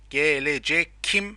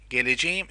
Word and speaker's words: geleceğim: But the correct one, as you see, look, K letter turns into soft G in positive form with subject pronoun of I. Okay, so ben geleceğim is the right one.